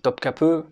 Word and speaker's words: Topkapı: On dit Topkapı, même si ça s'écrit, on croirait que ça s'écrit Topkapi, mais en turc, quand le i, il n'y a pas le point dessus, il se prononce e et pas i.